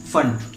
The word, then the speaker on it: Pfund: कब ब्रैकेट और कब फंड। ठीक है, कुछ लोग इसे पी फंड बोलते हैं और फुंड भी बोलते हैं। हिंदी में जो इसका प्रोनाउंसिएशन होता है वो फुंड होता है।